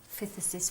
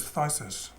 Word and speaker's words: phthisis: That's phthisis. Phthisis. Don't know what Pass it means. on that one. No, I've never heard of No. that. 5 months certified. So basically that just means she's obviously had phthisis for the last 5 months before Right.